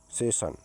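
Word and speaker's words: session: लीजिए एस E double S आई ओ एन सेशन से ने कार्यकाल यहां आई ओ एन आ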